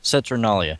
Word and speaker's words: Saturnalia: You'll have to help me with this pronunciation. Is it Saturnalia? Saturnalia? Saturnalia.